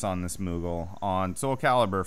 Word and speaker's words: Calibur: So I went with this Soul Calibur, I believe is how it's pronounced. That is exactly how it's pronounced. Don't question us. We're the authority here. Come on. They taught me that Calibur.